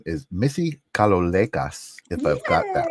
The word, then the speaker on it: Kalolekas: Her name is Missy Kalolekas, if I've got that right. Welcome to the holding space. Is that correct? You did it, yes. Kalolekas. Kalolekas.